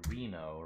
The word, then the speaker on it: RINO: or fatty rent-a-car and RINO rhymes with casino so it's tightened eyes